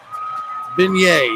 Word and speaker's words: beignet: 100 percent social ladies and gentlemen beignet yes that's how it's said all right regan no pants uh our first or second kente's still in third here's question 17.